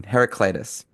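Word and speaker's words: Heraclitus: Heracitis.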